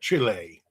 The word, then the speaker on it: Chile: You gotta say it like that, Chile.